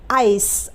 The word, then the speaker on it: ice: तो आइस में आई से शुरू हो रहा है ना, तो यहाँ पर आई का उच्चारण आ ई होगा। तो आई के लिए आ ई, सी के लिए स लिखेंगे, और आखिर में ई है तो ई का उच्चारण नहीं होगा, यानी कि वो साइलेंट रहेगा।